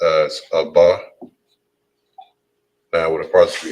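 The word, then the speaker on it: אבא: names all right so father in hebrew is pronounced as abba now when it comes to the s plurally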